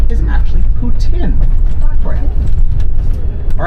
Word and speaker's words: poutine: go to Montreal anytime soon the proper French pronunciation is actually Putin for all right leading into the hangover cure